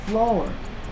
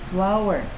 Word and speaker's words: flour: Flour. Ini flour bacanya ya, bukan floor. Floor itu lantai. Kalau ini flower ya, seperti bunga tapi flower, tapi artinya tepung.